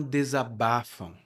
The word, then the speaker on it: desabafa: Os homens não desabafam. E quando você desabafa, e aqui minha pronúncia é bem cuidadosa, desabafa, porque no dia a dia nós também falamos desabafa, como desabafa. Então, quando você desabafa com